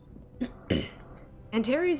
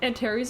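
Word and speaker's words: Antares: The Antaries is the name of a star. I think it's pronounced Antar's.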